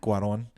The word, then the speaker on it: Cuarón: Alfonso Cuarón. Cuarón.